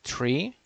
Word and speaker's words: three: we uh speak differently it's a digit three that you read as a tree in aviation it's a digit four